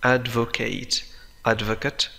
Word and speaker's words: advocate: advocate تعني يدافع عن, advocate مدافع. هذه الكلمة لديها نطقين مختلفين كما ترى. إذا نطقت كفعل, إذا كان معناها يدافع فعل, فهي تنطق بadvocate, وإذا كان المقصود بها مدافع الاسم تنطق بadvocate.